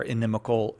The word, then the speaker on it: inimical: or ideas that are inimical. Inimical. Yeah, I think I did say it right Yeah, the you first did.